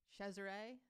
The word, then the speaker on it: Cesare: lucrezian cesare says caesar cesare let me get that out correctly it's actually spelled caesar by the way oh yeah but in